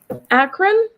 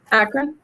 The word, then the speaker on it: Akron: Captain Akron? Is that how you're supposed to say it? Akron? Ryan? Hey, Ryan. I just wanted to see if I could say it right. Yes, it's Akron, Ohio.